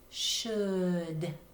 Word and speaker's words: should: that's in the middle should do we hear the L know and the O you does it say owl like we're used to know in fact many